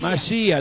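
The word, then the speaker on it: משיח: se dice Mesías no Eso es en castellano en hebreo es Masías muy bien si llevado al Castellano es Mesías Sí pero Cómo se dice en hebreo mas masia diga fuerte masia Cómo es serpiente Nash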